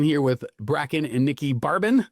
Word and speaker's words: Barben: Hey, Cleaning Nation, here with Brakken and Nikkie Barben, not Barber.